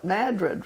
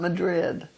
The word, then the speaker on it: Madrid: And in New Mexico, we call it Madrid, right? Not Madrid, as they do in Spain. Yes, David, and David certainly knows. It's always been Madrid.